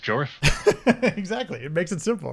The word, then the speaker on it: Jorf: If you saw my channel, you know Jorf is pronounced Jorf.